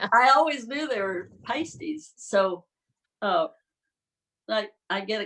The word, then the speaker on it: Paiste: And I said the word Paiste, and she said, yes, you even know how to pronounce the symbols.